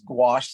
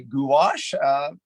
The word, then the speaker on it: gouache: We're going to get into that, and that's how you say it. At least how I say it is gouache. Some people, some of my British colleagues say gouache.